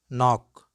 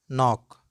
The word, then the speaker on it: knock: the words which commence with cairn then k is not pronounced let's go with some relevant examples like no no knee knee knit knit night night knock knock neck neck knob knob